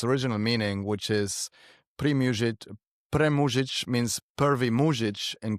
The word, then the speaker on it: Premužić: Yeah, and to be fair, Jason, if you wanted to pronounce the last part in its original language, which is Croatian, it will be premužić. And so then it stops sounding like pre-music because I'm not before music.